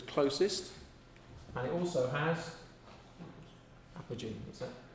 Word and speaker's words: apogee: So the Moon has perigee, where it's closest, and it also has apogee. What's that? You have to put the O in to make it pronounceable.